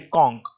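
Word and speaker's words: conch: ठीक है, जैसे कॉन्क, जब आप कॉन्क को पढ़ेंगे तो कैसे पढ़ोगे, कॉन्क, लास्ट में क्या आया, क।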